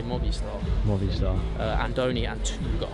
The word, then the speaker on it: Movistar: So the British say movie star, but there's no E, so they say Movi Star.